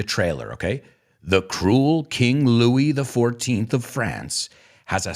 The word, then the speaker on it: Louis: You say Luis, we say Louis. La S no lo pronunciamos.